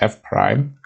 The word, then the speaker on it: f prime: So the notation of a derivative would be this, which is pronounced as f prime.